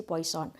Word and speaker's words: Poisson: Nah, di dalam proses diskrit atau distribusi diskrit, kita mengenal distribusi Poisson. Nah, distribusi Poisson ini atau Poisson, ya, yang benar pengucapannya, ini merupakan sebuah distribusi